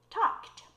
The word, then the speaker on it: talked: And every time you have a base form word that ends in k, you know the pronunciation is going to end in the t sound. For example, talk, talked.